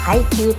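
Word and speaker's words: 排球: 配球と読みます。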